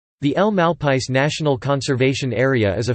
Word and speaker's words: El Malpais: El Malpais translates to "the Badlands" in Spanish and is pronounced mal, rhymes with wall, pies.